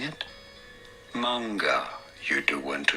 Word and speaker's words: manga: It's manga because it's heiban pattern.